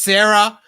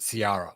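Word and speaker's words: Sariah: at ciara wilson s-a-r-i-a-h i thought it was sarah but bad motivators or it might have been on the sith list but uh eric struthers pronounced it ciara so i'm going with that because he's far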